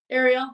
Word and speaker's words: Arial: Ariel, like Little Mermaid.